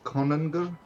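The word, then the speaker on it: konungr: Now, they don't say Kunukur, they still say Konungur, Interesting.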